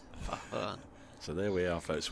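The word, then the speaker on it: Farhan: It's Fahan, not Faren. Fahan.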